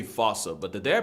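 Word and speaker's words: fossa: The Fousea. Although, with its spelling, I'm pretty sure it's actually fauca.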